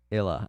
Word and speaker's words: Isla: talk about yet uh isla is pronounced illa oh i'm sorry pronunciation